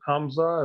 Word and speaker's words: Hamza: out to coffee and do you pronounce it hamza is that how you pronounce your name yeah so hamza you know i mean